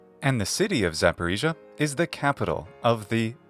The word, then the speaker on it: Zaporizhzhia: in English this region and its capital are pronounced one more time just to make sure you got it repeat after me zaparisa and the City of zaparisa is the capital of the zaparisia O blast